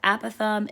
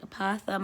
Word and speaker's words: apothem: Again, the wording is your apothem. I know it looks like apothem. I think I used to pronounce that in the beginning, but it's an apothem.